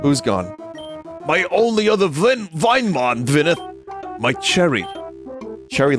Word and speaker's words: Vinemon: It's pronounced Vinemon, not Vinamon.